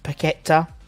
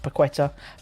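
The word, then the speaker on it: Paquetá: are in for both pageta that's how it's pronounced not piqueta packet and hands yes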